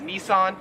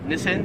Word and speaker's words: Nissan: card right here so we would pronounce this in america as nissan however here in australia it is pronounced nissin number 12 is this